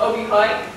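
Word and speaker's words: Aabyhøj: that i was in is called obi-hike and it's spelled a-a-b-y-h-o-e-j obi-wan it took me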